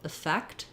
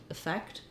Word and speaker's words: effect: Okay, here's an example that starts with e stressed on the second syllable, effect, effect. Um you may see it in the dictionary as e or as i. These are typically going to be reduced though.